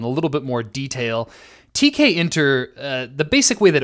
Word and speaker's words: Tkinter: this module quite a bit and they might pronounce it tkinter or tkinter or I have no idea and um that's just fine just know that from here on out I'm going to pronounce it TK enter that's the last I'm going to mention this